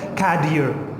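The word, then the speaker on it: cadere: Latin language में शब्द है और उसकी प्रोनाउंसिएशन वहाँ पे है कैडियर. क्या? कैडियर. जी हाँ बिल्कुल, लैटिन भाषा का शब्द है तो ज़्यादा टेंशन मत लीजिएगा. वहाँ पे प्रोनाउंसिएशन कैडियर है.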